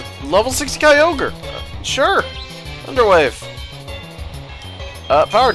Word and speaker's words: Kyogre: first came out who had a pronunciation for Kyogre that was just wrong in English at least what was it it was Kori oh he still too rough but I have Kyogre it's just a m